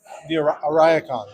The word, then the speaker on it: Ariakon: It's called the Ariakon. Ariakon.